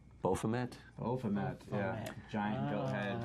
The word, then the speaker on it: Baphomet: Statue of Bahamut? Or I think it's pronounced Baphomet?